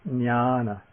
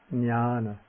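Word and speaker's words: ñāṇa: on top of it is pronounced like an NY like the N in canyon or like the N in onion.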